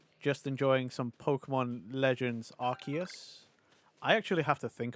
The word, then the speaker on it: Arceus: is a children's game it's arus not Aus maybe we should just